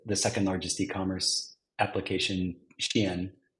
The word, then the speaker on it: Shein: Our technology powers all the virtual try-on for the second largest e-commerce application, Shein. Some might pronounce it Shane.